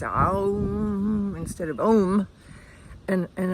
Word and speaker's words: Om: Um, if it's pronounced correctly with the A U M type of inflection rather than the O M we in the West usually pronounce it Om, which sounds okay, but from scripture it's pronounced Aum, A U M, and